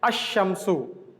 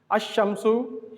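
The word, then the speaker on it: الشمس: starts with sun letter, then the lam tarif will not be pronounced. We will pronounce the letter directly. We will join the letter directly. Okay, like ash-shamsu. Ash-shamsu, here we are leaving the lam. We are directly pronouncing ash-shamsu.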